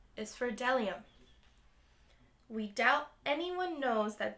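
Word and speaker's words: bdellium: B is for delium. We doubt anyone knows that delium is, but it's the only word dumb enough to begin with a silent B.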